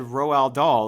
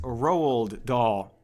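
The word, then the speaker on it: Roald Dahl: saying his name shut up so his name is spelled r o Al so I said roal doll like that's the way it looks which okay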